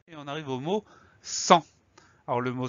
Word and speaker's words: sans: Alors le son en A-N. La lettre muette, je ne connais pas de mots qui permettent de la retrouver. On a un S muet à la fin.